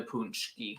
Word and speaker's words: paczki: don't even get like how to pronounce how p-a-c-z-k-i turns into punchki well it's a different language we can start there